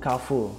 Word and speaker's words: Carrefour: dari bahasa Perancis ya Jadi kalau enggak salah nyebutnya ke full Nah kira-kira Apa makna